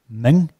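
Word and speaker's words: Mwng: I think it's pronounced Ming. That's correct, yes.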